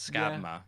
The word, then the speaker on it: Skábma: is in sami so i think it's scabma yeah um yeah i